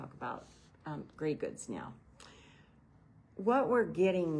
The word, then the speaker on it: greige: start out with and it's called gray goods, but it's spelled Greige, and it's because it's not really gray, but grayish. Okay. But they say gray goods.